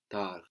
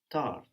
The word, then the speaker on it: tard: Late, late in French is tard, Tard. tard. And this is spelled T-A-R-D. So the final consonant in French, as we have been seeing, is rarely pronounced T-A-R-D, but we say tard.